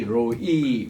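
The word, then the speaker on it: רֹעִי: 아도나이 로이 거기 액센트가 있고 여호와는 나의 목자시니 그 다음 앞에는 로이 할 때는 R입니다. R 로이 이렇게 R 발음을 굴려주시고 그 다음 나오는 로는 L입니다.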